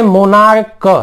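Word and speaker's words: monarch: लेकिन यदि इस सी एच का उच्चारण हम क्या करें, क करें, मतलब के की तरह क, तो फिर हमको सिर्फ एस लगाना है, सिंपल।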